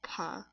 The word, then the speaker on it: pas: So in pa, the S is silent. I think I explained this in one of my other videos, but the S is completely silent. Like we don't say it. The S is irrelevant.